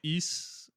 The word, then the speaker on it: Ys: I don't think I like the YS games, man. I tried it. East. Oh, East. East games. I actually wrote it down on my phone for this moment to pronounce it, but I always say YS.